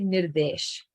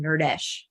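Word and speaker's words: Nirdesh: isn't that so true his name guys it's literally nirvish right it's near the n-i-r-d-e-s-h but because davey is so like americanized or naturally like english-speaking she can't pronounce it right so she calls him nerdish which like has the word nerd in it so she picks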